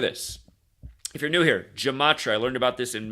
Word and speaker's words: gematria: If you're new here, Gematria, I learned about this in Manly P. Hall's The Secret Teachings of All Ages. And the word's actually pronounced Gematria, but I prefer Gematria because it's like gem.